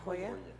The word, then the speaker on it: La Joya: Am I pronouncing that right? La Hoya or La Joya? La Joya.